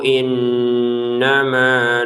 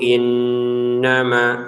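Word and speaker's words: إنما: Sepele kayak gini misal nun bertasydid dibacanya innama kan harusnya dibacanya innama kemudian dibaca innama. Ya salah gitu. Jadi letak ketidaklancarannya pada yang dengung yang mungkin cuma diberi satu harakat ya. untuk tahannya di satu harakat.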